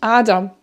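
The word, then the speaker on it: Ader: en allemand très souvent quand on a er en terminaison et bien ça se prononce presque plus comme un a comme aba aussi comme mais ou la veine.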